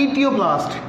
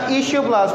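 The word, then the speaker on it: etioplast: बनाता है ईटियोप्लास्ट या ईशियोप्लास्ट। प्रोनाउंसिएशन अप टू टू आपके ऊपर है कि आप जैसे मर्जी करना चाहें, इसे ईटियोप्लास्ट पढ़ लें या इसे ईशियोप्लास्ट पढ़ लें।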